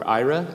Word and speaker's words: Aira: I am the Vice President of Blindness Initiatives for Aira. Aira is spelled A-I-R-A.